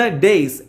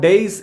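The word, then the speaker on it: dais: സഷ, Naveen, please come to ദ ഡേയ്സ്. രണ്ടുപേരും, സഷയും നവീനും, മുന്നോട്ട് വരൂ. Come to ദ ഡേയ്സ്. ഡയസ് എന്നാണ് എല്ലാവരും പറയാറുള്ളത്, ഡയസ് അല്ല, വേദി എന്നാണ് ഡയസ് എന്ന് പറഞ്ഞത് കേട്ടോ. ഡയസ് പിന്നെ അപ്പോൾ ഡേസ് പറഞ്ഞ വേദിയാണ്, അത് നമ്മൾ ഉയർന്നിരിക്കുന്ന സ്ഥലം അല്ലേ.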